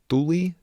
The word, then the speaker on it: Thule: It was a Thule. It looks like Thule, Thule. Thule, I think, is how it's actually pronounced.